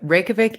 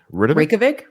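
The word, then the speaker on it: Reykjavík: Reykjavik is rapidly becoming my favorite European city. I love it there. Oh, love, what's it love, called? love. Reykjavik? Reykjavik is the capital.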